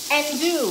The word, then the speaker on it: andouille: The L's are silent. Let me see. I missed that. Andouille. So it's andouille. Andouille. Am I saying it right? Andouille. Andouille. Andouille. If the L is silent, it's andouille sausage.